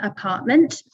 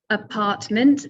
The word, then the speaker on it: apartment: So we'll take an easy one, apartment. Apartment. So you can hear that there are 3 syllables in this word, and the stress is on the second syllable, apartment.